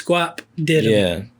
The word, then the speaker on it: Guapdidem: so just to make sure I'm saying it right, it's Guapdidem.